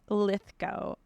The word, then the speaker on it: Lithgow: She was the most Lithgow. Lythgo. Like what's his face? I think I'm saying it right, but John Lithgow.